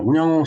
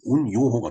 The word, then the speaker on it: 운양호: 자, 운양호 사건 한자로 쓰면은 이제 지금 제목에서 보는 바와 같이 이렇게 쓰는데 이것을 일본어로 읽으면은 운요호가 됩니다.